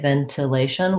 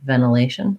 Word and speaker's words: ventilation: american way ventilation ventilation so that nt often in american english gets reduced to more of an n and it sounds like ben then lay stress on the lay ventilation and then my typical tion ending ventilation or ventilation so i can either do a light tea aspirated ventilation or ventilation either one and then ideology um